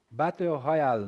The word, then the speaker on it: battle royale: H Royal Battle Royale, né? Royale. Essas pronúncias do inglês aí quebra a gente, né, turma?